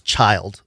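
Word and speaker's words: Schild: to pronounce the s s-c-h-i-l-d like the end of Roth's child but take out the Roth that's what his name is it's child Rudolph 's child Smithsonian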